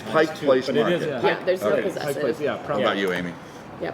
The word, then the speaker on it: Pike Place: Pike Place I I I think I say Pike's Place it's Pik Place Mar about you Amy